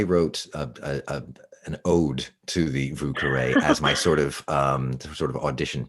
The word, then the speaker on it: Vieux Carré: So I'm a big fan of one called a Vieux Carré. That's the New Orleans mispronunciation of the French words.